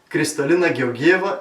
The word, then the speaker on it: Kristalina Georgieva: Do you know who Kristalina Georgieva is? And by the way, this is the correct Bulgarian pronunciation for Mario Eneko and others who try to spell her name.